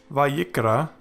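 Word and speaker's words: וַיִּקְרָא: This is therefore pronounced as vayikra, which means he called.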